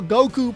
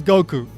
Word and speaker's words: Goku: In the case of Goku, well, the Goku pronunciation is the most widely used pronunciation by far within the English-speaking world. Yeah, there's some people that insist on Goku or something kind of like Goku, but most English speakers use Goku.